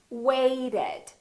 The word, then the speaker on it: waited: to pronounce the ed listen to this weighted weighted so this ed has an extra syllable so we actually say weighted however here we don't